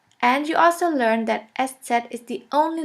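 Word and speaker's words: ß: this we call it s set s set or shafus s shafis s which means a sharp s this letter is pronounced like the double s in the word kiss and always remember this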